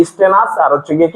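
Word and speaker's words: stannous: থেকে যেহেতু আসছে তাহলে এটার উচ্চারণ হবে কি স্টেনাস আর হচ্ছে গিয়ে কি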